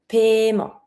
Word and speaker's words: paiement: Don't pronounce the E that you see after the I. It's mute. Paiement.